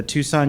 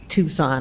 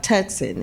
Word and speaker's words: Tucson: If I was telling people that I didn't even know how to pronounce Tucson, I was like Tuxen. And I was like, what about Tuxen?